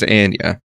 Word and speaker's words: Anya: the actress herself I keep wanting to say Anya but it is not it is Ania so wait she she corrected you in person